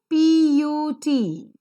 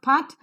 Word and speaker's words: put: cut but look at the second example p-u-t it is not part but it is put r-u-d-e it is not